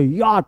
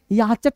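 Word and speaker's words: yacht: तो याट क्या पढ़ेंगे? याचक नहीं। याट या मतलब नाव है ना स्पेलिंग मिस लीडिंग है तो ऐसे स्पेलिंग है ना जिसको पढ़ने में कंफ्यूजन होता है भाई साहब इसको हमको लोक करके जोड़ना पड़ेगा इसको मोड़ना पड़ेगा इसको मिलाना पड़ेगा तब मजा आएगा याचट नहीं यात यात यात बोलो मेरे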